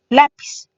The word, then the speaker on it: lápiz: Por ejemplo, tendríamos la palabra lápiz. Si la dividimos en sílabas, tenemos 2. Y debemos de encontrar también la sílaba tónica, la sílaba fuerte, la. Nos indican que la que va tildada es la vocal, lápiz.